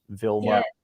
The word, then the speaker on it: Vilma: Did my American pronunciation, was that correct of both of your names? Vilma, Edvin?